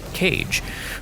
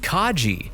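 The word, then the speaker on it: Kage: I go uh cage Romero is like no dude it's pronounced Kaji and I go uh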